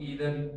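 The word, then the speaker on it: either: ई जो है वो इंडिकेशन ऑफ ईदर और आइदर। इसको ईदर भी पढ़ सकते हैं आप, आइदर भी पढ़ सकते हैं।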